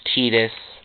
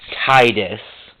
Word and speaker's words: Tidus: And believe me, it is pronounced Tetus, not Titus, cuz they pronounce it Tetus in Didia.